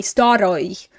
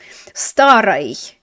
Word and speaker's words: старой: And notice I'm not pronouncing it as ой, старой. Да у меня нет старой машины. I mean, in some parts of Russia, like the super country bumpkin parts of Russia, they may say it like that. We say it as if it's not stressed. If the o is not stressed, we're saying it as a oi.